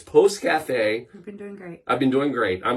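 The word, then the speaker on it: pousse café: I'm glad you asked Post Cafe and p o u SS e uh is how you spell it I've been scared to death to say this word literally all day but it's Post Cafe you've been doing great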